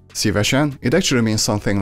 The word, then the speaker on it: szívesen: The most common way to reply would be szívesen. Szívesen. Szívesen. It's written with a long E sound, but everybody says it with a short E.